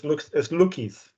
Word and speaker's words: Lukey's: And just to correct you, it's Lukey's.